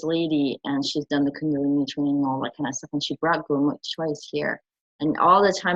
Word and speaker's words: Kundalini: Now, how do you pronounce that again? Kundalini. It's Kundalini.